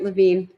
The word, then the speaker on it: Levine: And, I forgot to ask you, do you pronounce your name Levine or Levine? You said it right, Levine.